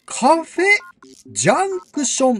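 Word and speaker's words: カフェジャンクション: こちらでございますカフェジャンクションと読みます神奈川県鎌倉市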